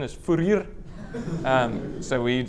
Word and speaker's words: Fourier: Furier. Okay. But the proper African pronunciation is furer.